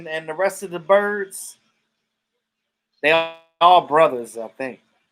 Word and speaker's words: Byrd: Yeah, the Blackbirds, Donald Byrd, and the rest of the birds. They all brothers, I think. But their last name is Bird, though. But it's spelled Byrd.